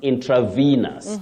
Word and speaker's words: intravenous: which is which Willis it is V that letter e takes what we call the long high front sound e the long High front sound e you say V not v v is the spelling but you say Venus intravenus that is to do